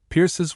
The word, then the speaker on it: Pierce: Pierces, which she pronounces to rhyme with hurse.